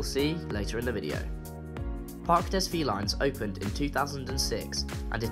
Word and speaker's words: Parc des Félins: welcome to Park Des V lines pronounced in French Park DEA Park Des V lines is a huge and beautiful Zoo specializing in